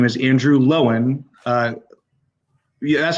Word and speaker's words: Andrew Lowen: me today a special guest his name is andrew lowen uh that's how you pronounce last name right that is right that's